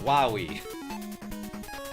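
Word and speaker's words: Wily: pouring in appreciate yall no it's pronounced wahi that's how they say it in Mega Man 8 and look at this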